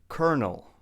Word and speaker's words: colonel: Colonel. Colonel, not colonel, but colonel. A colonel is a rank in the military. Colonel. There's actually no R, but in English we say colonel.